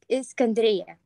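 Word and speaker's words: الإسكندرية: It's because I read about Alexandria, that's the way you pronounce it in English. I don't know if that pronunciation is right, but okay, it's in Arabic, it's Iskandria.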